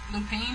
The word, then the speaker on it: Lupin: arsenal being our sin look lupine now that's just how you say it and it was a